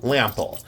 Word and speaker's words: Lampl: Walter lample um and it's spelled differently it's l a m p l lample uh pronounced lample and um let's see